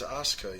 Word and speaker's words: Asuka: It's Asuka. Yeah. Yeah, because I watched NXT and they pronounced that. Yeah, the late. U is silent.